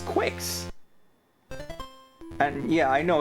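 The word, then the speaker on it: Qix: Oh, it's Oh, it's quicks. And yeah, I know it's it's supposed to be pronounced kicks, but if it's a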